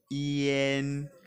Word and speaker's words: ian: deux fois yen yen ça s'écrit Ian mais la prononciation c'est yen yen un un n